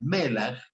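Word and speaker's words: מלח: sal, como la sal, en hebreo se pronuncia melach, era un símbolo de la justicia de Cristo, que garantiza la aceptación del ofrecimiento del perdón y la redención.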